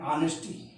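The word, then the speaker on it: honesty: एक जोरदार उदाहरण पर, जिसको कहते हैं हम ऑनेस्टी। फ्रेंड्स, स्टार्ट तो एच से है, लेकिन आप ऑनेस्टी मत बोलिएगा, ऑनेस्टी, एच का उच्चारण आ।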